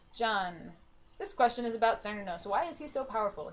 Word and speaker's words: Cernunnos: I said Cernunnos. Cernunnos is the appropriate pronunciation, but for some reason we always say Cernunnos because we're English speakers and we see a C.